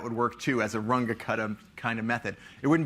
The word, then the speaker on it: Runge-Kutta: called the Runge-Kutta methods, sort of pronounced sort of Germanish where you say all the letters. Runge-Kutta methods.